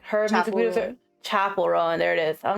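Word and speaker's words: Chappell Roan: Like uh Sha Chappel Rowan like her music videos Chapel Rowan. There it is. I'm like why can't I remember how to pronounce her name?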